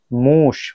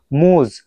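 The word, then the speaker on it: муж: তো এটার উচ্চারণ হওয়ার দরকার ছিল মুজ। এটার উচ্চারণ হওয়ার দরকার ছিল মুজ, বাট মুজ না হয়ে কেন মুশ হলো?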